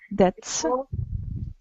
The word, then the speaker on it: debts: Debts. B is not pronounced.